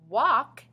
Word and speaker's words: walk: ah spelled a you walk has ah spelled a l but our l is silent hall has ah spelled